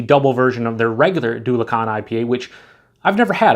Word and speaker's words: Dulachan: and double the hops, pronounced Do Lacan. They actually tell you how to pronounce it.